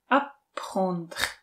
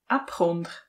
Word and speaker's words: apprendre: A to, že francouzské slovíčko, takových, přijde mi takových šedesát procent písmen z toho slova se vůbec nevyslovuje, prostě se to polkne, i kdyby to neexistovalo. Ježišmarja. Apprendre. hmm, evidentně dvě francouzské r po sobě.